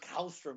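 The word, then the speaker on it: Källström: Anytime you say the word Kallstrom, and you have to say it like that, Kallstrom.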